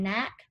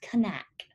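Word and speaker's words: Knaack: how to pronounce that i was saying knack so but it's connect he's from germany he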